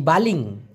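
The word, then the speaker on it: baling: হলো কেজাম লেম্পার অথবা বালিং বি এল আই আই এন জি বি এল আই এন জি বালিং উচ্চারণটা হবে বা লিং এই বালিং অথবা লেম্পার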